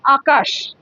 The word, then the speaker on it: আকাশ: ধরো, আচ্ছা আরেকটা বলছি, আকাশ। আকাশে কি হবে, দন্তেশ্ব না তালব্যস্য? তালব্যস্য হবে, কারণ দেখো আকাশ, শটা কেমন হ উচ্চারণ হচ্ছে, স এর পরে একটা এই এই উচ্চারণটা হচ্ছে, তাই আকাশ।